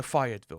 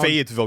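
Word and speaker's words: Fayetteville: Like going back to his hometown, Fatville. We got to say it right. We mean we've been it up for too many videos, myself included. Fatville.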